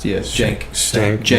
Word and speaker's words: Cenk: It's pronounced Cenk, whatever.